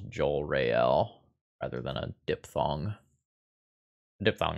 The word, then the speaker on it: Jorael: that can try to poke narset there's three syllables Joel Rael rather than a diphthong diphthong is a technical